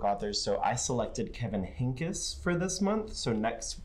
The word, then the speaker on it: Henkes: Kevin Henkes is, I pronounced it as Kevin Hanks for the longest, and then I did research, and then I was like, oh, I'm simply incorrect.